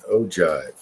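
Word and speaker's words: ogive: That's the right pronunciation. Ojive.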